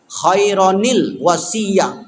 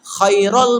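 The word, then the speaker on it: خيرا الوصية: dia maka mesti disambung kironil wasiah khairon Al wasiah karena dia kiron bunyinya Ran dua huruf dua harakat atas disambut oleh alif lam maka tak bisa kiral bacanya Khairil wasilah Khairil wasiah di Quran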